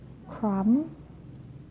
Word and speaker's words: crumb: For the example, climb, crumb, lamb, thumb, jam, plumber. Climb, crumb, lamb, thumb, jam, plumber. So I'm not pronouncing the B, I'm just pronouncing the M consonant sound.